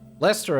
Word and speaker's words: Leicester: Leicester I'm not even sure if I can pronounce those Lester I can but not sure about gluster and